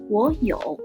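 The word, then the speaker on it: 我有: word like this one the first character will change its tone from the third to something like the second tone like Ro if we pronounce the words in its original tones the two third tones it will sound like y that's very long time consuming so we're going to say war war changes into something very similar to the second term now let's try if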